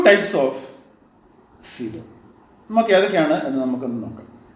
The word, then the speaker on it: coelom: എന്താണ് സീലോം? ഈ വാക്ക് പ്രൊണൗൺസ് ചെയ്യുമ്പോൾ സൂക്ഷിക്കുക, അതിൻ്റെ സ്പെല്ലിംഗ് മനസ്സിലായല്ലോ. ഓ is silent, it is pronounced as സീലോം. സീലോം എന്ന് പറഞ്ഞാൽ ഒരു ക്യാവിറ്റി എന്നാണ് അർത്ഥം.